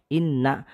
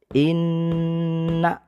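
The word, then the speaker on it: إنّ: contoh bacaan meluna musyaddadah cara bacanya dibaca tiga ketukan atau satu setengah Alif jadi tidak boleh Inna tapi ditekan dan ditahan ya Sebanyak tiga ketukan Inna itu ya jadi tiga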